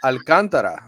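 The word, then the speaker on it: Alcántara: did alcantara that's right alcantara that's the way you say it in spanish right i mean that's the that's the real pronunciation alcantara right because you're pronouncing the a mm-hmm so i you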